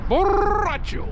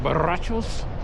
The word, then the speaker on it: borracho: Borracho. You gotta roll your R's with the borrachos.